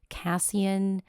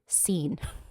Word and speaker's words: casein: I have always been saying it Cassian Cassine. I just today for this episode finally looked it up. It is cine but it looks very different.